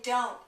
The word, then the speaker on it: don't: So the T in don't is silent.